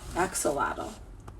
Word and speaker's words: axolotl: and in case you're wondering my name is pronounced X if you gave me some tips here X soul atoll XL lateral axolotl that's close so that's what helps them breathe